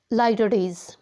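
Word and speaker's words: litotes: Next है guys लाइटोडेज, ये इसकी प्रोनाउंसिएशन है, ट्रांसक्रिप्शन है ये इस वर्ड की, लाइटोडेज।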